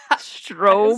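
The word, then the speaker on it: Straub: Strobe. Spell that too. Strobe. Spelled S T R A U B. Stra. Oh, Strobe.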